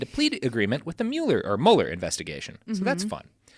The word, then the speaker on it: Mueller: roll and signed a plea agreement with the Mueller investigation. Mm-hmm. So that's fun. Kind of angry at him for having a name that makes me want to say Mueller when it's supposed to be Mueller.